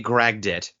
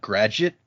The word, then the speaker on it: Gradit: I think in my brain I've always pronounced that gradit as if the D and the G had switched places. But yeah, it says Gradit. All right. Yeah, it's like dragnet but grad.